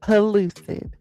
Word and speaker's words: pellucid: All right, I'm pinning it in the chat now for you with the pronunciation. So everybody say it with me. Pollucid.